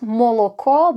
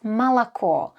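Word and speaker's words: молоко: One important thing you should learn early on is that the letter O is often pronounced as A in unstressed positions. So, for example, this word is not moloko but malako.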